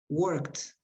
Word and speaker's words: worked: Be careful with the pronunciation of endings of EDs. No worked. Worked. Work. Worked with a T.